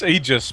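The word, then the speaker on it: Aegis: say Aus to the immortal she now says egis of the immortal which is the correct way to pronounce it is it egis I've always said it wrong it's egis but um a lot of people don't pronounce it like that people don't like it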